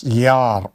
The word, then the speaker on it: Jahr: Here it is Jahr. Pronunciation is Jahr. H is not pronounced because it comes in the middle.